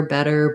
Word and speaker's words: better: the word better so better is a typical example of words that end in t-e-r with two t's letter better butter i'll use the flap t sound so if it